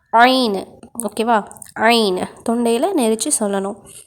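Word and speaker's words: عين: இப்போது இது ஐனு, இது 18வது எழுத்து. இதற்கு புள்ளிகள் கிடையாது, மேலே கீழே புள்ளிகள் கிடையாது. உச்சரிப்பு ஐனு. இதை தொண்டையில் நெரிச்சு சொல்லணும். ஐனு, ஓகேவா?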